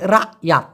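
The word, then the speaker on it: rakyat: Malaysian ভাষায় বলা হয় রাত আমি আবার বলতেছি রাত এই কটা ছোট করে উচ্চারণ হয় এরকম না বলে বলতে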